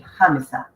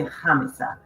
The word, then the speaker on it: Khamissa: my dad comes from, it's gonna be pronounced Khamissa. So the H is silent, but they will say Khamissa, and Khamissa in Arabic means actually the 4th.